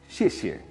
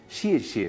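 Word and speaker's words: 谢谢: Xie xie parecerían ser dos sonidos similares, pero que cambian el tono. Xie, cuarto tono, descendente, casi como con tilde.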